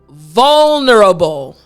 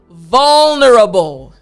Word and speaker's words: vulnerable: It's very useful, but it's a little bit tricky to pronounce. So after me vulnerable. Good. I know it's tricky again after me vulnerable.